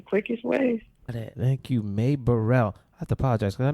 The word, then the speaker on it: Bereal: hey buddy oh no it's me burrell not brielle i'm not a rapper